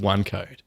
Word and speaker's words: OneQode: So I've been working on a telecom startup for the last almost a year, actually, called OneQode. What is OneQode? How is it spelt? It's spelled ONEQODE.